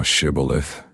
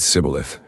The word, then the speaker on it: Shibboleth: Then said they to him, Say now Shibboleth. And he said Sibboleth, for he could not frame to pronounce it right.